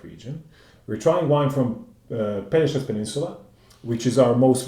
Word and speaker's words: Pelješac: you guys can see, is very tricky for somebody from English-speaking countries, for example, or pretty much any other except for Slavic countries, to realize that the pronunciation should be Pelješac. Pelješac.